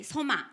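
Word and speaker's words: σῶμα: 用希腊语的话就是 soma 这个发音。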